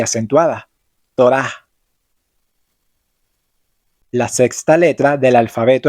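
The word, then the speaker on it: תורה: Por ejemplo, en la palabra Torah, que significa ley, la letra Hei realmente no tiene ningún sonido, pero ayuda a marcar la vocal A, que en este caso es larga y acentuada. Torah.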